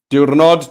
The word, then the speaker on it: Diwrnod: Diwrnod T. Cloud Jones. That's how you say it.